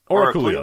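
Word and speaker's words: Oráculo: So you're talking about Oraculio? Oraculio, there we go. Yeah, that's how you.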